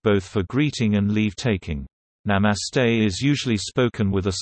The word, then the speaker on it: Namaste: Namaste Hindi pronunciation, Namaste, listen, sometimes spoken as Namaskar and Namaskaram, is a customary Hindu greeting.